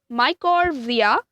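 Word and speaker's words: mycorrhiza: r h i z a so it's namely pronounced as my chord via is a symbiotic again relationship between a fungus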